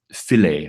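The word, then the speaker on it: Philae: this week was that the probe fillet I presumed that's how you pronounce at ph ilae it was a probe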